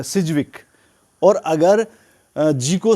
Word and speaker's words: Sidgwick: सिर्फ बल देते हैं DJ और जी एक साथ हारे हैं तो एक को साइलेंट रखना पड़ता है अगर आप डी को साइलेंट रखेंगे तो सिर्फ वीक हो जाएगा सिजविक और अगर सर्जिकल साइलेंट